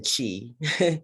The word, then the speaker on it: chi: For this week's topics, we're going to be learning about two new distributions, the chi-square distribution, spelled CH, rather than chi. So you pronounce it almost like kite.